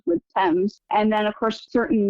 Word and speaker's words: Thames: In particular, the main river through London is the River Thames, but it's spelled t h a m e s. And when I was little, I thought for years that it was pronounced Thames.